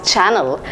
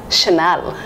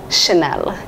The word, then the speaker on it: Chanel: is I thought it should be spoken or pronounced as channel but I was wrong this is a gorgeous brand pronounced as Chanel Chanel has inspired millions of people engaged with